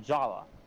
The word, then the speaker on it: Jaller: That's why, despite being spelled Jaller with 2 L's, an E, and an R, I still pronounce it Jala, just like the movie did.